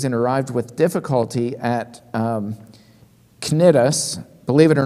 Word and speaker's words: Cnidus: number of days and arrived with difficulty at Cnidus. Believe it or not, that sea is pronounced like a K. I had to look at the original Greek because I wanted to say Cnidus, but it's Cnidus.